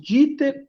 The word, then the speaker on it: Dieter: Bom, vocês podem ver meu nome, Dieter. Segundo, eu tenho o nome composto, Dieter, e o meu sobrenome é, tá? Então, o Dieter se escreve D-I-E, mas se pronuncia só o I, tá bom?